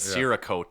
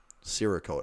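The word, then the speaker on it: Cerakote: that rogue is doing I believe it's I believe it is a soft C that's not a coat okay Sarah and I've said sirrah coat in my head does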